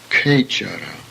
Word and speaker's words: Kechara: KH, pronounced as in inkhorn, Sanskrit word Kechara.